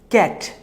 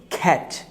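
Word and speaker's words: cat: প্রথম যে ওয়ার্ডটি আছে সেটিকে আমরা বলছি হচ্ছে ক্যাট, না আমরা ক্যাট বলবো না, আমরা এটাকে বলবো হচ্ছে খ্যাট, যেহেতু সি ফর খা, খ্যাট খ্যাট খ্যাট খ্যাট।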